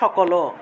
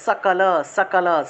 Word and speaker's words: সকল: মনে করেন যে এই আমরা বাংলায় বলি সকলও, এই যে সকল লিখছি না, বাংলায় সকলও বলে ফেলি, কিন্তু সকলও সংস্কৃতে বলা যাবে না, সংস্কৃতে বলতে হবে সকল, সকল, স উচ্চারণ করতে হবে।